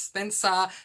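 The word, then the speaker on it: Spensa: that it follows a girl whose name is Spencer, that's spelled S-P-E-N-S-A.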